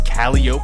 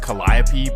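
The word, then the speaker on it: Calliope: And that takes us to the famous Calio projects. And again, it's supposed to be pronounced Collapi, but this is New Orleans.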